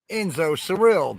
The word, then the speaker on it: Enzo Surreal: Enzo Surreal, the E is silent.